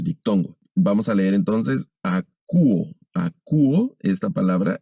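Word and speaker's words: ἀκούω: Si ustedes observan, al final de esta palabra hay 3 vocales, pero el diptongo que está en medio lo vamos a pronunciar únicamente como U. Leemos esta palabra acuo, que significa oigo o escucho.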